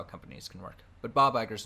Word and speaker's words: Iger: says dot dot if you feel like I butchered what that name Bob Iger that his name Bob Iger Bob Iger just use the CEO of Disney